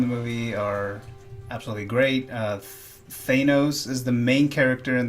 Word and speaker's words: Thanos: I used to think it was Thanos, but they said Thanos in the movie, so that's what I'm going off of.